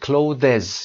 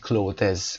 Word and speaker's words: clothes: دوستان سعی میکنن که این clothes رو به این شکل بخونن. clothes. این اشتباه هست. نیاز نیست که اصلا این فشار رو به خودتون بیایید و بخواید هر دو رو تلفظ کنید. فقط کافیه بگید clothes. clothes به همین شکل قابل درک هست و قابل فهمیدن هست. نیازی نیست بگید clothes. کلا اشتباه میشه. clothes درست هست.